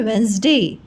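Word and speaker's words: Wednesday: ठीक है, लेकिन प्रोनाउंसिएशन क्या है इसका? इसका प्रोनाउंसिएशन है वेंसडे।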